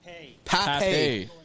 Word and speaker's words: Pape: Pape. Yeah. Thank you, Steve Clark, for the great pronunciation.